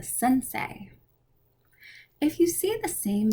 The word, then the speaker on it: sensei: japanese poetry form haiku e i is pronounced like eight a japanese karate instructor is a sensei if you see the